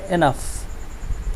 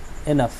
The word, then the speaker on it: enough: ENOUGH, এটার উচ্চারণ হবে এনাফ, এ নাইকান্না ফ, এটা উচ্চারণ হবে এনাফ।